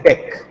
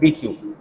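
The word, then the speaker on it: deque: इसको शॉर्ट में बोलते हैं डेक, बट the full form is double ended Q. इसको प्रोनाउंस करते हैं डेक. We don't call it एज DQ, हम इसको प्रोनाउंस करते हैं एज डेक.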